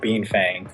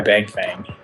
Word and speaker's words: Bengfang: I was like, oh, Bangfang, I like the sound of that. But later knowing that this was actually pronounced Beanfang, but I'm like, all right, I'm gonna go by Bangfang, and then I switched up the spelling a bit.